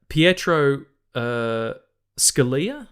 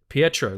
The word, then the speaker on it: Pietro Scalia: And it was edited by Pietro Scalia, I think is how you pronounce it. Pietro, like Colossus.